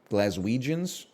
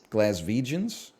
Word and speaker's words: Glaswegians: Glaswegians? Glaswegians? Scots. No, you got it right. Is it with a V or a W? It's with a W.